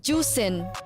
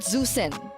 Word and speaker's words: Juicen: pronounce zusin no no it's pronounced as juin juicen so it's not zusen I can speak mandrin